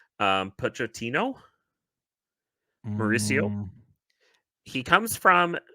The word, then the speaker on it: Pochettino: It's a name I've seen recently, and I'm going to butcher the pronunciation. Pochettino, Mauricio.